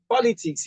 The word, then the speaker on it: politics: We have politics. Politics, that's three syllables. It's a three-syllable word. Now, whenever you see this stroke, it's telling you that the stress is on li and not po.